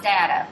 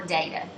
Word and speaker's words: data: use a computer to analyze data, or data. That word can be pronounced either way.